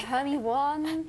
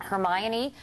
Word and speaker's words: Hermione: I know I've had so many different interpretations like oh um herion uh hermy Juan but now I guess now I guess because of the movie everyone knows how to say her name and Hermione like Emma